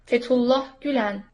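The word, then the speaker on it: Gülen: for us Let's see gulan fulah we got right gulan gulan there's sort of a g to that right I mean I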